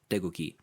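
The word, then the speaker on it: 태극기: cave that's written but it's basically all soft g sounds degooky um yeah i thought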